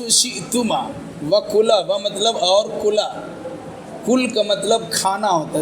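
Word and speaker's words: كل: دیکھیے، اگر صحیح تلفظ کی ادائیگی نہیں کیجیے گا تو معنی بدل جاتا ہے. قل، بڑا قاف، دو نقطہ والا قوف، قاف مطلب قل، کہیے، فرمائیے. اور کل، چھوٹا کاف والا کل، ایک معنی کل کا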